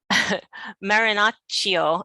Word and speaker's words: Marinaccio: and today our gra our guest is marinocio and i forgot to ask you how to pronounce your last name that's perfect really is